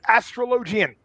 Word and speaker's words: Astrologian: if anyone's saying that every pronunciation that's a lie it's astrologian okay i'm sorry okay i